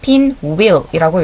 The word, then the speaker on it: pinwheel: 자, WH를 히읗 발음을 내는 사람들이 있는데요. 그렇게 읽지 마시고 그냥 이응이라고 생각하면 돼요. 그래서 우 소리를 넣어서 pinwheel이라고 읽어주면 되겠죠.